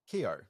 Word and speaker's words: Keough: How do you even pronounce her surname? Granddaughter of one Elvis Presley. Keough, yeah.